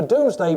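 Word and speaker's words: Domesday: Compiled by King William the Conqueror, the Doomsday Book, spelled D O M S D A Y, is indeed named after the day of judgment in Christianity.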